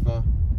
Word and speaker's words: pho: It's pronounced pho.